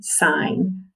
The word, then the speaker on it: sign: the bible long okay so the g is silent but it makes that vowel wall okay sine just like if we had igh like we've looked at before okay sign i saw the stop